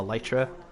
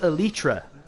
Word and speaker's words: elytra: wants to he wants me to call the lytra it's pronounced elytra that's the proper pronunciation but also tomato tomato